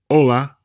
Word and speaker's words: hola: Hola, hora, hotel, hospital, alcohol, almohada. Notice that you didn't hear an H sound in any of those words. Again, the H is silent in Spanish, except when it combines